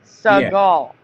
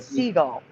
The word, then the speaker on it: Seagal: that was his name that's how we pronounce it Sall not seagull no it's so stupid